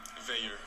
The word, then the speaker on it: Vier: Veyer. Veyer. So okay, yeah, okay. Veyer. Yeah, Veyer is the French way to say it.